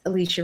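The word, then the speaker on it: Alechia: and creator of Howie blend my last name is spelled awesome I'm some awesome you can stay connected with me everywhere at Alicia y'all know my parents got excited a-l-e-c-h-i-a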